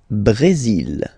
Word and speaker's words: Brésil: Le Brésil. Le Brésil. Okay, you will pronounce the final L here, and then remember, accent aigu goes like E.